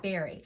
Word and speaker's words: Barry: I think Stitch Folk, who is Barry, it's not Bari. I've been pronouncing her name wrong. It's Barry.